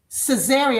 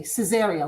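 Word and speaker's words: Caesarea: And we are going to be watching Cesaria. I'll spell it for you. C Ae S A R E A. Cesaria. Like Caesar, right?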